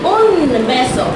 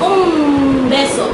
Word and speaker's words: un beso: I'm not pronouncing un beso. I'm saying un beso. My M is. It's bilabial, it's not N, it's M. Say un beso. So that is not an N, it's an M.